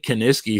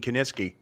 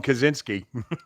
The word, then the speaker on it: Kiniski: Reading the wrestling magazines, it took me a long time to pronounce Gene Kiniski. I used to say Kiniski, Kaczynski. I always still say Kiniski. Maybe I. Well, I couldn't pronounce unequivocally either. So a couple of minutes ago, so you guys don't call him Kaczynski, right?